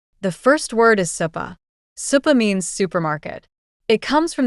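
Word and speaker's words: スーパー: Supa means supermarket. It comes from the English word super. But the Japanese pronunciation is long, even sounds supa.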